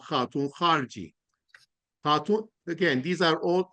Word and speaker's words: Khatoun Kharji: Savar is an easy one that looks compelling, but tell us how do you pronounce the rest of that? Okay, huh. All right. Khatoun Kharji.